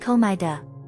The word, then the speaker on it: Komaeda: Over there, they've got a real troublemaker whose last name is pronounced Komaeda.